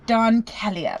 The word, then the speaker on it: Don Calya: Don Calya, but Don.